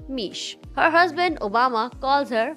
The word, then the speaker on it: Miche: Michelle has a nickname that rhymes with her name, Mish.